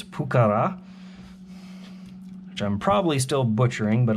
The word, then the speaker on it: Pucará: buddy of mine that the emphasis is on the second a not the first a so in english we typically call it the pukara apparently it's pukara i'm probably still butchering